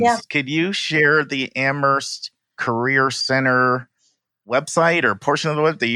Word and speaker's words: Amherst: And our URL is amherst.edu, and Amherst is AMHERST. The H is silent.